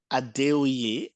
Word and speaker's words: Adeoye: How do you pronounce that? Adeoye, bordering, but Adeoye is fine.